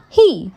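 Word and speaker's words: hē: He, pronounced like her, with a yawn, which is associated with the heart.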